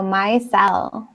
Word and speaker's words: micelle: Oh, micelle. Michelle. Michelle. Michelle. Yeah. Michelle. Okay, micelle. Michelle. No, but it's my, like the I is pronounced like with a long I sound.